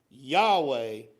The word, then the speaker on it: Yahweh: so what does Yahweh mean so Yahweh it's pronounced Yahweh because the way the the Hebrew is translated